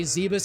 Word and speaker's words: Zebes: Pronounce it as Zebus, yeah. Other M says Zebus.